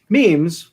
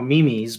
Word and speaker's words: meme: do you mean so memes which uh i like to call mimi's but nobody knows what i'm talking about so i can't call them mimi's right um are spelled m-e-m-e and pronounced meme i think almost everyone